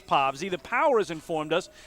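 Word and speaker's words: Povse: island last week but at that point we thought he was povsi his name is spelled p-o-v-s-e and the power told us it was povsi but the power or excuse me the rockers told us it was povsy the power has informed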